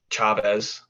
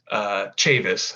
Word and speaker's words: Chavez: And I'm working with Colton Mastic and DJ Chavez. Chavis, actually. I found out it's pronounced Chavis.